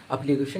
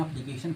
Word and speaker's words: application: देखिए TION ना, TION, इसको सन पढ़ते हैं।